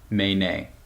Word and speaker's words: Menē: The name of the company, as you can see, is spelled M-E-N-E, but we pronounce it Menē.